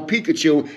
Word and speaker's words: Pikachu: did somebody not know Pikachu and I had to say to them it rhymes with mikachu so this is Grandpa